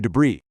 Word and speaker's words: debris: We also see the word debris here. Remember the pronunciation on this one. The s at the end is completely silent. Debris means scattered pieces of waste or remains. So, she was clinging to debris.